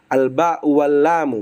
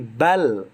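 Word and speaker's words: بل: Misal bal al bau walamu bukan tapi bal gitu ya dan seterusnya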